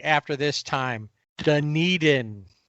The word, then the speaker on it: Dunedin: Dunedin. Dunedin?